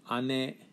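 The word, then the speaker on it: 姉: the city we have ane ane sounds very much like ani but different pronunciation there whereas little sister also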